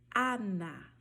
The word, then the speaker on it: Ana: Então, ao pronunciar, por exemplo, a palavra Ana, você vai falar Ana, Ana. Por que você vai pronunciar diferente? Porque tem uma particularidade no espanhol que não existem sons nasalizados.